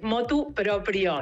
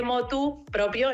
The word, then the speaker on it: motu proprio: por eso es así es motu proprio y no se dice ni de motu propio ni por motu propio es lo hizo motu